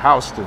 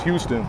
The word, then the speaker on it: Houston: So this is on Bowery and Houston. I used to think it was Houston because it's spelled exactly the same way, but all the city folks corrected me. It's Houston.